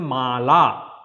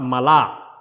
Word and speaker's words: Mala: The way it is pronounced in Sanskrit, it is a Mala, not Mala.